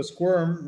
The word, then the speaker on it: squirm: So squirm rhymes with worm. It Okay. also rhymes with So let's firm.